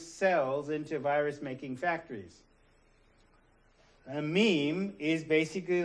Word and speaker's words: meme: what memes are, whether memes are good or bad. A meme is successful or not, whether it's lethal or whether it's benign. So, meme rhymes with cream, smallest unit of replicating thought.